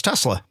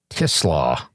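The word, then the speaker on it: TeSlaa: Everybody's going to pronounce this last guy's name wrong for I thought it was Tesla. It's Tislaw. Oh, Tislaw. Or Tislaw. But the the Slaw is SLO.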